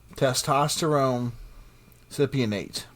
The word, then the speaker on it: testosterone cypionate: test testosterone cyponate I'm sorry I can't really pronounce it whereas it's osiponade it's an anabolic steroid testosterone cypionate thank you so it is possible that Chris